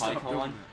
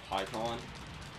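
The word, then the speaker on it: Pikkon: I know in the few episodes where I had PyCon, I was pronouncing his name wrong. I now know his name is pronounced PyCon. I'm sorry about the whole mispronunciation thing that I had in the earlier episodes when I was pronouncing him PyCon instead of PyCon.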